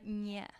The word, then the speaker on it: nie: Nie. Nie. Without the T.